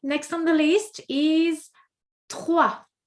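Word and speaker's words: trois: Number 3, next on the list is 3. 3. Ça va? 3. Again, what do we notice? We do not pronounce the S. Okay, S non-existent. So we say 1, 2, 3.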